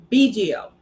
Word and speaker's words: Bigio: Gilbert Bigio. Mhm. Am I pronouncing his name correctly?